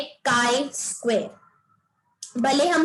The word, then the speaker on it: chi: Topic का नाम है काई स्क्वायर. भले हम स्पेलिंग CHI लिख रहे हैं, बट as this is a Greek letter, it is pronounced as काई, नॉट ची या चाय.